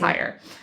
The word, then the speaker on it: Heyer: i recognize the name yes and i hope i'm pronouncing that i think it's it's spelled h-e-y-e-r i believe you're pronouncing it right i think it's higher um and so uh